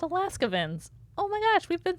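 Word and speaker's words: Alaskavans: oh my gosh Jamie this whole time I thought they were called alaskans they're called Alaska vins oh my gosh we've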